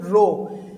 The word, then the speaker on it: rho: ये एक Greek letter है जिसे हम प्रोनाउंस करते हैं रो.